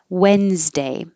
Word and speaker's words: Wednesday: vowel is ah ma wednesday forget about the d and the n it's just and the s because it's wednesday same z as thursday need a good z